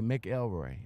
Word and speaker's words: McElroy: facebook group and uh how do you pronounce the name mcelroy that's correct yeah oh okay mick elroy all right you guys